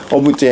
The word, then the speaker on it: OBGE: เนาะ OB G นะ ตอน แรก เรา ก็ โอ อ่าน ว่า อะไร เนาะ ก็ อ่าน จาก ข้าง หลัง เนาะ เ บอก ว่า แบรนด์ นี้ อ่าน ว่า โอบ อ่ะ โอบุจ นี่ ก็ จะ เป็น